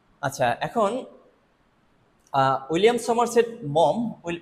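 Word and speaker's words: Maugham: আচ্ছা, এখন William Somerset মম, এটা কিন্তু মঘাম উচ্চারণ হবে না, কিন্তু মম উচ্চারণ হবে, মম।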